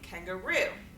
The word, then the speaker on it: kangaroo: And then lastly, kangaroo, kangaroo on the last syllable.